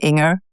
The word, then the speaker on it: Inger: My name is Inger Andersen. It's a soft G, by the way. Inger rhymes with singer.